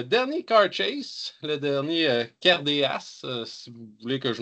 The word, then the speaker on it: Cairdeas: me compreniez, mais euh les D se prononce en CH là habituellement là en en écossais galéque là et c'est d'ailleurs pourquoi on dit le check aussi.